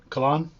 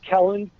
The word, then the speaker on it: Kellen: Kalan? I keep butchering it. Kellen. I got Colleen in my head. Okay, Kellen.